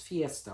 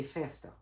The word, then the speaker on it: festa: for party in cura is fiesta which is very Spanish but we would say festa to go party is also to go fiesta, but it for some reason that was more Portuguese-based pronunciation of the whole thing.